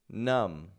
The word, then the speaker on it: numb: Numb. So each of these words is spelled with a B on the ending, but none of them have that B pronounced.